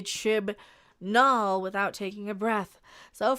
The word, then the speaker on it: Chibnall: Jodie announced last year she's leaving the BBC series helmed by Chris Chimballs. So I can't mispronounce his name anymore because I can't say Chibnall without taking a breath.